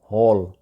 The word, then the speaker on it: hall: وہ ہے ہال، HALL۔ اس کو وہاں پہ حال بولا جاتا ہے جو کہ غلط تلفظ ہے، اصل اس کا تلفظ ہے ہال، ہال۔ اچھا جی، اگلے لفظ کی طرف جاتے